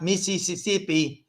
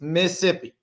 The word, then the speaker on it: Mississippi: course super talk and this is how you say it if you're from the south so the rest of the country needs to listen to what I'm saying it's not Mississippi it's Mississippi super talk Mississippi that's